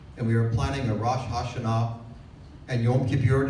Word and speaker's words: Rosh Hashanah: we are planning a Rosh Hashanah and Yom Kippur. Did I pronounce that wrong? Yes. Rosh Hashanah.